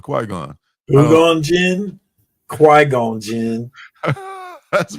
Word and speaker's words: Qui-Gon: It's right, just like it's spelled, Qui-Gon.